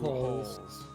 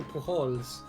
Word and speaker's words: Pujols: I like how like Wikipedia's like pronunciation it like makes it a point that it is pronounced Pujols. Yeah. As opposed to Pujols.